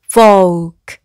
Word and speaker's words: folk: 앞에 이렇게 F가 오면 folk, 라고 읽고요.